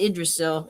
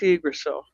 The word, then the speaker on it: Yggdrasil: So sometimes people say Yggdrasil, but no, it's Yggdrasil.